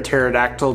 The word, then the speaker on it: pterodactyl: you can't hear a pterodactyl going to the bathroom because the P is silent amen this is your